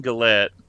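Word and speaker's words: Gillette: uh the guy Warrington gallette I believe is how you say his last name let me make sure this is the right guy okay warron glette yeah like the Razer he's the unmasked Jason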